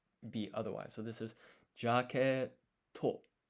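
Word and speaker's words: ジャケット: It's jaquetto. Jaquetto. And so here we've got G and then ya. But this is not pronounced Ji-ya because this ya is half-sized.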